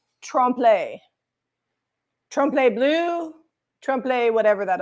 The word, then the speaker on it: trompe: It's pronounced trompe.